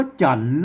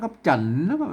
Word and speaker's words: จันทร์: จันทร์ แล้ว ก็ อ่า ไม่ ใช่ จัน นะ ครับ แหม่ คน ลูก ออก ไป มา อ่าน มา อ่าน วัน จันทร์ เนี่ย มัน จะ ผิด สำเนียง แล้ว ก็ มา มัน ต้อง ออก เสียง จัตวา นะ ครับ จันทร์ อ่า ตาม สำเนียง ตา ยวน เชียงใหม่ นะ ครับ อื้อ เปิ้น ออก เสียง ว่า จันทร์ อ่า เสียง จะ ได้